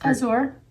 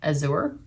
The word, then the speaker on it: azure: It's Azure. Azure.